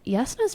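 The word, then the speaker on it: Jasnah: I want to start with Yasna. So, Yasna was or Yasna or whatever Yasna, whatever you want to say. Um, spelled with a J, not a Y.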